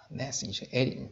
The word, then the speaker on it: gnashing: 자, gnashing, g가 모공되었습니다. 이렇게 발음하시면 됩니다.